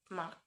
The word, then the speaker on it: mark: Something similar happens in the word mark. So this may come as a surprise if you're from Scotland. Consider and Ireland, the US or Canada. They are in this word is not pronounced at all in the convention pronunciation that is reflected in usually British transcription.